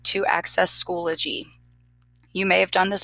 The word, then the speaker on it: Schoology: So a lot of people mispronounce this. They say Schoology. It's actually Schoology.